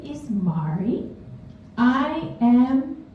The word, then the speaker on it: Marji: my name wrong so my name is Mari you notice it has a silent letter this has forced me